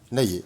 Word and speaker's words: Laylier: Poulailler, tu enlèves le pou, ça fait lailler. Laylier, eh ben c'est super.